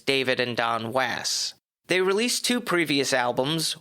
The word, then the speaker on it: Was: the pop rock band wass in parentheses not was if you look at it it's spelled was not was but actually spoken as wass with the first word rhyming with pass that's why the not